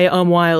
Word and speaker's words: umquhile: The Scots kept it to signify a hua sound that was distinct from the wa sound that was merging in other English dialects.